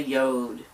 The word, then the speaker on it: yod: July begins with a yod. Y-O-D, that's how I pronounce it.